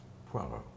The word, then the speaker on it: Poirot: Poirot. Poirot who? Sorry? Poirot? Poirot? Poirot. Hercule Poirot. It is how you say my name.